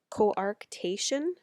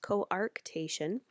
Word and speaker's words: coarctation: of a or t'k coarctation is how it's pronounced coarctation so you can see